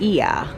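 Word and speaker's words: Oia: so we are here I was saying the name wrong it's not oil it's eeeh even though it is oh I a it's the village of iya and our driver dropped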